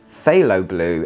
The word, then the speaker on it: phthalo blue: wore i can pronounce it right now it's pronounced phthalo blue and that's also by andy tower this one